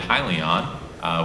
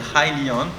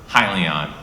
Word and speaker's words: Hyliion: undergrad, and then when in grad school founded Hyliion, which is now the company that we're running today. Yeah, and I realize now I mispronounced it, so it's Hyliion.